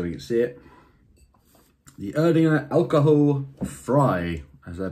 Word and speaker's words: Erdinger Alkoholfrei: The Erdinger Alkoholfrei, as they pronounce it in Germany.